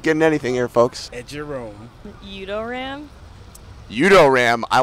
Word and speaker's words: eduroam: Udoram. Udoram, I like that. Haven't heard that today. Eurodam. Eurodam? Edurome. Heard it both ways. And for the record, it's pronounced Edurome.